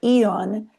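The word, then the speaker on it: Aeon: Um and you can wear Eon. It's spelled Aeo N.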